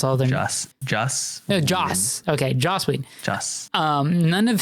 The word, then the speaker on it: Joss: it was like stated that none of the josh whedon that's his name okay i'm just making sure i pronounce all this just just no joss okay josslyn um none of his footage was